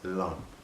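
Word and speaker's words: LAM: You know, when you're doing your meditations, meditate to the chant Alum. It's spelled L-A-M, but it's pronounced Lum.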